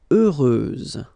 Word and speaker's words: heureuse: Heureuse, final S, not pronounced.